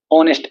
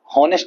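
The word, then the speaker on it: honest: ऑनेस्ट, एच आ रहा है, इसमें कांस्टेंट आ रहा है, लेकिन एच यहाँ पे साइलेंट हो जाता है, हॉनेस्ट नहीं बोलते है, ऑनेस्ट बोलते हैं, ऑनेस्ट, ओ,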